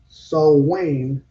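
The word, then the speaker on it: Samhain: the dead at Sam Sam Hayne pronounced so Wayne by Wiccans on October 31st.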